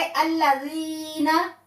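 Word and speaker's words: الَّذِينَ: तो यहाँ हम पढ़ेंगे अल्लाज़ीना, ठीक है? अल्लाज़ीना नहीं पढ़ेंगे, अल्लाज़ीना, मतलब हमने यहाँ 2 सेकंड्स के लिए इसको खींचना है। क्यों? क्योंकि या मद्दा है।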